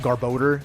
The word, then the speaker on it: Garbodor: But I understand that it probably should be pronounced Garbodor because it's garbage and odor.